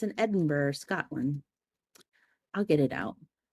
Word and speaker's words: Edinburgh: Is it Edinburgh or is it Edinburgh? Edinburgh. I think if you're pronouncing it properly.